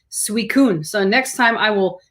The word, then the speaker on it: Suicune: we pronounce i'm saying suicune it's sweet so it's almost like sweet corn sweet corn on the